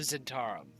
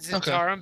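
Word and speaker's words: Zhentarim: I pronounce it Zentarum because it sounds better.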